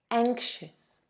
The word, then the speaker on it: anxious: Careful with the pronunciation of the word anxiety, because even though the root is the same, the adjective has a different pronunciation. Look, anxiety, but anxious.